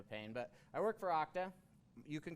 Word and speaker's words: Okta: kind of a pain but i work for octa you can call okra also a lot of people say okta right but the permanent the correct pronunciation is octa and we do users as a software service